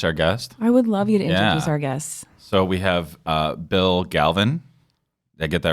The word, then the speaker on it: Bill Galvin: So I always like people to pronounce their own names. It's Alderman Bill Galvin.